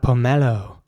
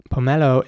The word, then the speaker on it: pomelo: Next up, pomelo. Pomelo is spelled P-O-M-E-L-O, and it's pronounced pomelo.